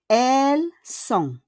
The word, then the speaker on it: Elles sont: Next, we have elles sont. Elles sont. Elles, we don't pronounce the S, and we don't pronounce encore the T.